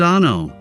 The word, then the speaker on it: ANO: Welcome to ANO Camera, pronounced ah-no.